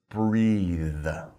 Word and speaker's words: breathe: put an e on the end and we pronounce it breathe okay so breath breathe be careful don't get